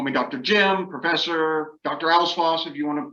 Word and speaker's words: Alves-Foss: Alves-Foss if you want to pronounce the multiple syllables. It is a two-syllable last name. I tell people think of Santa Claus, Alves-Foss. It rhymes with that.